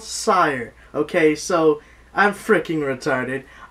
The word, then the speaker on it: SYRE: review first and foremost I've been saying the wrong pronunciation for the damn word and it's called sire okay so I'm freaking